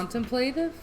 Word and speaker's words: contemplative: How did you pronounce that word? Contemplative? Is it not contemplative? Not contemplative?